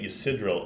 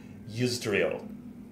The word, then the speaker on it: Yisdril: I think I was pronouncing it Yisidril, and it's Yisdril. I, like, flipped a couple... had a reversal of a couple of the syllables.